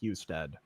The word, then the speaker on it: Husted: Ohio in here, it's pronounced Husted.